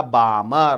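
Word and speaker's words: Balmer: पहला साइंटिस्ट कौन था उसका नाम है भैया बामर उसका नाम है भैया बामर मैंने बोला वेरी गुड बामर अच्छा नाम है स्पेलिंग है बी एल एम ई आर बी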